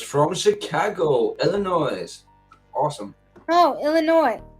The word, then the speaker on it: Illinois: No, Illinois. We don't say the S. Chicago, Illinois.